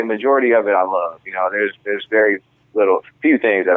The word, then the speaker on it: LXVE: So brand I came up with, Love. It's spelled LXVE, stands for love and value everything.